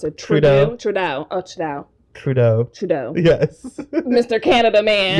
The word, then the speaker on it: Trudeau: don't even know his last name how you pronounce it TR trud oh trau Trudeau trau yes Mr Canada man yes my baby